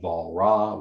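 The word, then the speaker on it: Walras: there are karl menger leon valra which is how you say your name when it's spelled walrus and most importantly william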